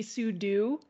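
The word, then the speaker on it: sudo: what do you think so technically it stands for super user do so it should be sue do but everyone and I say this as somebody who has made like over a hundred videos about the Linux command line everyone says pseudo I don't know anybody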